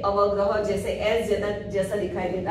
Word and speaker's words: अवग्रह: उसका प्रोनाउंस होता है अवग्रह, जैसे एस जैसा दिखाई देता है।